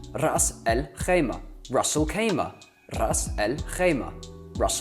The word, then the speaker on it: Ras al-Khaimah: is hard to do, the Ras is not something which comes naturally. Most Brits or English-speaking people can't roll their R's, although I would heavily